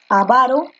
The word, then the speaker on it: avaro: forma de pronunciarlas pero la correcta es avaro con la fuerza de voz en lava no estaba es avaro esa es la forma correcta de decir la palabra es avaro fuerza de voz en la